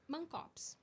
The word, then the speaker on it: Mancopes: Porque eu ia falar Renata Mankops. Ou Mancops. Mankops. Aí, ó, tá E vendo? no Canadá, como que o pessoal fala? Mancops.